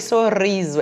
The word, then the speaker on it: sorriso: é fraco ou forte vamos pronunciar o sorriso e risada então não saiu eu não falei sorriso é sorriso é um som forte não falei eu risada